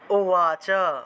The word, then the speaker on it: উবাচ: তারপর দেখুন এখানে আছে অন্তস্তব, এই অন্তস্তবের উচ্চারণটা আসলে ওয়া হিসাবে হয়, ওয়া ওয়া, অর্থাৎ ঠোঁট না লাগিয়ে ব উচ্চারণের মতো ওয়া উচ্চারণটা হয়ে থাকে। তাহলে অর্জুন ওয়াচ উচ্চারণ হবে অর্জুন ওয়াচ।